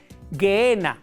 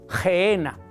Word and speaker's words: Gehenna: En hebreo, estamos en hebreo, se dice Gehenna o Gehenna. Gehenna o la pronunciación Gehenna.